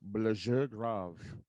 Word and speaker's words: Blessure Grave: Uh, so first of all, it's kind of, I think technically the pronunciation of that band name is Blessure Grave. I Oh, called c'est it Blessure, français. right, and I called it Blessure Grave, um, because it was